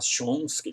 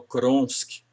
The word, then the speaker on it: Chomsky: se considera humilde, ele no lugar de falar Chomsky, que é o nome de um linguista, ele falou Kronsky.